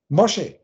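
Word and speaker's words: משה: Und das ist aber das hebräische Wort für Mose. Mosche ausgesprochen.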